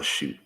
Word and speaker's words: chute: A shoot is the, no, that's not, it's spelled CHUTE. It's offensive line shoot.